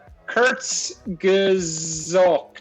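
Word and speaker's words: Kurzgesagt: that what it means so it's okay it's pronounced Kurt's gazook yes yes I mean if you like science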